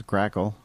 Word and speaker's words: Grackle: Don't forget to give them a like, and it's spelled the way it sounds, Grackle, like the bird.